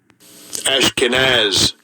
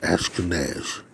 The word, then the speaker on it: Ashkenaz: I think it's Ashkenaz. Let's see. Here we go. Strong's H 813. Ashkenaz. That's how you pronounce that. Ashkenaz.